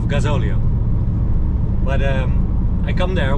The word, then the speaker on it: gasóleo: And I pronounced it wrong because I always said gasoleo instead of gasóleo.